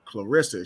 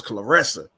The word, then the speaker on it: Claressa: know what i'm saying she don't like when y'all say her name clarissa she's like a clarissa the wrestler she's not checking people she be like yo it's claressa i